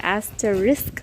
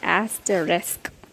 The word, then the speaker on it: asterisk: the next word if i have to say i will say aster risk but it is actually asked a risk risk rest risk it